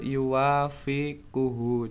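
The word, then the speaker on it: يوافقه: Iya, jadi yang benar yuwafikuhu cara bacanya tuh.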